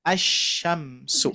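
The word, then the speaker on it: الشمس: Ya, maka dibacanya bukan al-sya tapi asyamsu.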